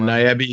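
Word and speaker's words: ニャビー: And then Nyabi is believed to be a cat, rhymes with tabby.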